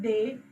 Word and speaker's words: des: You are pronouncing this last s when the noun is starting with the vowel only.